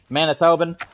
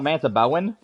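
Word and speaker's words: Manitoban: Manitoben. Okay. Yeah, I knew that's how you pronounce it.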